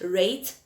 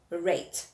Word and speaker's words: rate: Okay, so let's look at rate and rat. So when you look at these two words, you can see that they are similar in spelling, and our E is silent. However, with the fact that we have the E at the end, changes the pronunciation of the word.